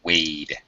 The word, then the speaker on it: wade: you you white through it right but uh pronunciation is Wade Wade a long yeah okay H all right